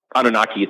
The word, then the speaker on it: Anunnaki: it's not like the the um you know anunaki I believe excuse me I think that's how you say it anunaki or anunaki I say an Anunnaki thank you they needed a large slave labor